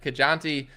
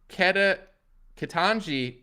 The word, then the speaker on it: Ketanji: peak level of that kajanti uh i'm sorry i spell i said it wrong kitanji brown jackson the really